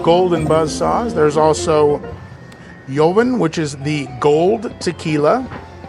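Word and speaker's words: Joven: buzs saws there's also yovin which is the gold tequila uh I think I pronounced that correctly it's j o v n I imagine the J is silent it's TP typically a uh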